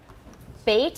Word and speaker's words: bait: Bait is a problem. You'll say bet or bat instead of bait.